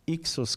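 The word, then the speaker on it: Hicsos: era precisamente el pueblo llamados Ixos, que se le conoce. Que generalmente se escribe como H-I-C-S-O-S, que eran parte de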